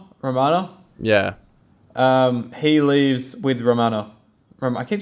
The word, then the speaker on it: Romana: He leaves with Romana. I keep saying her name wrong.